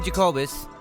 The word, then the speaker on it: Jacobus: very talented guest today his name is jacobz hi how's feeling man I hope I didn't mess up pronouncing your name you got it right that's